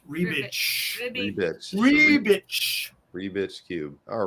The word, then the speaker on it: Rubik: Well, his name really is pronounced Rebitch.